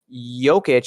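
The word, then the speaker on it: Jokić: Jokic is pronounced with a Y and not a J. Yes, Jokic.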